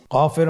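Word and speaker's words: كاف: নম্বর হরফটির নাম কাফ কাফ উচ্চারণের ক্ষেত্রে অবশ্যই পাতলা করে উচ্চারণ করতে হবে এবং তিন আলিফ টেনে পড়তে হবে।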